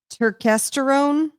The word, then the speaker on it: Turkesterone: Turkesterone. Turkesterone. Spell it. I'm gonna look it up. T U R K E S T E R O N E.